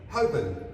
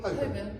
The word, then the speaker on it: Holborn: Holborn, excellent. Do we all agree on this one? Holborn, yeah, I would say Holborn, all right? Holborn. There's no Holborn.